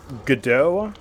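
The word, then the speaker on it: Godot: from the shadow uh the engine is called gdo is how it's pronounced which is really stupid because it's spelled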